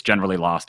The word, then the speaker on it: GeneralElost: So the reveal that I always do, and I had somebody that for 6 years didn't realize it, is it's a pun. It's generally lost, as in I need a map because I can't find myself.